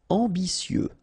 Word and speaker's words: ambitieux: Ambitieux, final X not pronounced, and then remember that you get this T, I, and then vowel, so si. Ambitieux, ambitieux.